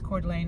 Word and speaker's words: Coeur d'Alene: I think it's Coeur d'Alene is how you say it.